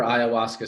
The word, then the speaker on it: ayahuasca: It's ayahuasca, is that how you say it?